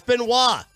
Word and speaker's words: Benoit: get to just choose how your name is pronounced. It's Benoit.